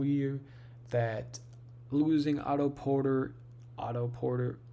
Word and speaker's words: Otto Porter: Um, I was saying this whole year that losing Otto Porter, Auto Porter, yeah, that's how you say it.